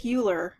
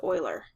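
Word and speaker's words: Euler: uh Swiss mathematician by the last name of Oiler now it looks like uler but his name is actually pronounced Oiler so Oiler got um word of what these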